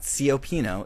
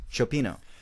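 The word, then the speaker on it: cioppino: seafood soup fish soup it's spelled c i o p p i n o it's not copino it's Chino so you're saying because fish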